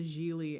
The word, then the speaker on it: Gigli: My name is pronounced Gigli. It rhymes with really.